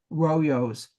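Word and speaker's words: rollos: pronounced with the l the double l is a y sound royos the lelay royos.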